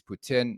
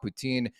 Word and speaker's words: poutine: to the Bhutan and I say it properly it's Putin not poutine but it's way better